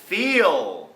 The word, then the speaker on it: feel: นี้ คือ Chill Chill อ่า คำ ต่อ ไป feel feel เห็น ไหม ครับ ว่า ลิ้น ของ อดั